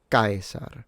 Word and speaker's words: Caesar: Caesar. Stress at the beginning, full diphthong.